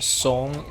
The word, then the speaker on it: Song: go to some dynasty it's pronounced song song in chinese not song but whatever i was